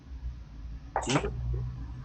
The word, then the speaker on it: would: Okay, so you say could, would, and should. Don't pronounce O or L.